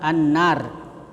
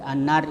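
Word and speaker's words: النَّار: Kemudian juga an-nar. Jadi an-nar itu juga idgham syamsiyah. Alif lam bertemu dengan nun, ya huruf syamsiyah. Jadi itu diidghamkan an-nar.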